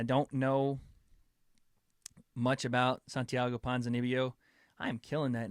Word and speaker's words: Ponzinibbio: Ponzinibbio. Got to pronounce the B's.